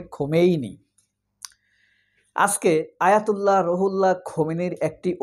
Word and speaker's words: খোমেইনি: তিনি Ayatollah Khomeini, Khomeini, উচ্চারণটা হবে খোমেইনি।